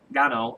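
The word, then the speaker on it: Ngannou: division Francis Gano not inano was call him inano but the N is silent so Francis Gano uh against bhan mihalovich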